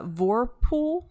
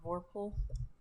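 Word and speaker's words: vorpal: Um, and it's called the I'm going to destroy this pronunciation. Uh, Vorpool sword. V O R P A L. Vorpool.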